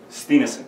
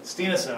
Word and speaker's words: Stienessen: Stienessen. Stienessen.